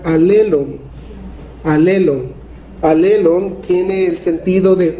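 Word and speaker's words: ἀλλήλων: Hay una palabra que se repite en el Nuevo Testamento varias veces, y una palabra griega que se podría pronunciar alelon.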